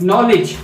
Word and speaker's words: knowledge: नो, ठीक है, LEDGE नॉलेज। तो इसमें जो डी होता है हमारा वो साइलेंट होता है।